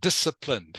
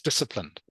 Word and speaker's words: disciplined: be disip or disciplined yes that's how it's pronounced disciplined can you say that for me please disciplined this ah so the C okay is silent